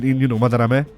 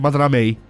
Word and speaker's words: Madarame: Yusuke called him more or less correct in Madarame with the cutoff and Ryuji called him Madarame, which is which is Americanized.